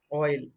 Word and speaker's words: oil: Oil. Whenever the letter O, okay, it is pronounced specially within a word, oil, oi, oi, oi is a diphthong, la.